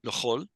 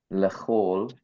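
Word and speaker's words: לְכָל: Sometimes written with the kametz chatuf, and we pronounce as chol.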